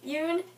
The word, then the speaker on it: Yoon: everything by nicola yoon hey yoon june it rhymes it rhymes okay so this is